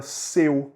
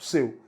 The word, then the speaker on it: seu: que é pronúncia aberta olha faz a comparação comigo se a gente pega a palavra seu que é um pronome seu s é u seu né e a gente pega a palavra céu céu c é u certo veja que seu e céu tem uma pronúncia diferente né tem pronúncias aí diferentes se eu traz uma pronúncia fechada do é o que é a